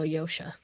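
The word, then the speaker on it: Josha: We're also still pronouncing his last name wrong. It's Yosha Stradoski. That's right. It is Yosha.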